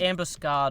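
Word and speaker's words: ambuscade: real word yeah yeah you pronounce it Ambush scard over there I I've never heard of it so so it's spelled like facade a m bu u s c a d e no no no never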